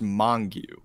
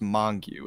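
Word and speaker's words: Mongeau: Well, it's actually pronounced Mongu. Oh. It's pronounced Mongu. It's like it's some Mediterranean last name.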